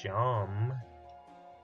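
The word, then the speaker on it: Seam: not attacking anyone talk the name seemed pronounced Shawn and this is my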